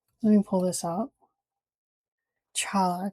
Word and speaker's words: challah: A hard a guttural noise. A hard cha. Guttural. Let me pull this up. Challah challah.